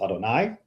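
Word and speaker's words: אֲדֹנָי: And that's the Aleph, Dalet, Nun, Yud, which we normally pronounce Adonai.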